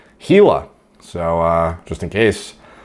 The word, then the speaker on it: Gila: the way the uh it's pronounced gila monster i don't know why the i thought it was gila or gila it is in fact gila so uh just in